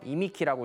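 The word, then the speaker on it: 忌寸: 그리고 기수라고 읽어서 이미키라고 읽고요.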